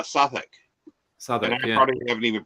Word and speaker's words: Southwark: the two but the South work anybody who there's no way somebody coming to that word would ever know that you should be calling it uh sathic you haven't even pronounced